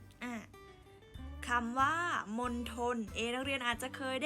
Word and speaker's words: มณฑล: ไป ค่ะ ฮะ อ่ะ อ่ะ อ่ะ คำ ว่า มณฑล เอเลี่ยน อาจ จะ เคย ได้ ยิน ใช่ ไหม